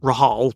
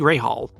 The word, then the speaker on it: Rahal: Ian rabby Bobby Rahal I got told off for calling him Rahal but apparently in the American say Bobby Ral is I'm supposed to say it Kimmy ronen hermano D